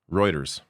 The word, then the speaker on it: Reuters: CNN and PBS here in a second uh routers later on is routers Reuters there a moment of levity for myself mispronouncing Reuters um it's because people that are